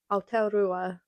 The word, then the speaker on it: Aotearoa: rá leis an Nua-Shéalainn Aotearoa I struggle to say that but I know that's how you say it in Maori.